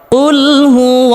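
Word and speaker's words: قُلْ هُوَ: কফ মোটা করে উচ্চারণ করতে হবে। কুলহু আল্লাহু আহাদ।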